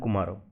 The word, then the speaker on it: Kumara: Based on the pronunciation in Odisha, I am using the words like Kartika and Kumara. So you can think it like Kartik and Kumar.